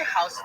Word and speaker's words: Houston: thank you have you ever wondered why a house in the street in lower Manhattan is pronounced like that well I bet even